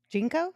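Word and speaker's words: JNCO: or no the mat box goes jinx jinko jinko right that's how you say it you guys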